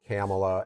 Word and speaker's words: Kamala: Somebody told me it rhymes with Pamela. So I always say Kamala.